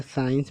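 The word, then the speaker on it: science: इधर साइंस में भी एस के बाद सी आया है तो इस सी को नहीं पढ़ा जाता, डायरेक्ट साइंस लिखा जाता है, साइंस में विज्ञान।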